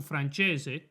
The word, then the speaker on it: Francese: His real name is pronounced Michael Francese.